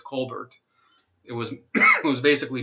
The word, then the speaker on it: Colbert: real name isn't pronounced Colbert. It's Colbert. It was it was basically made up for the show. They used the French pronunciation with the dropped consonant at the end.